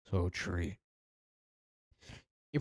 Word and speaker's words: Soi: So, you pronounce her name like Soy, but I don't feel like pronouncing her name, but that's what I just say.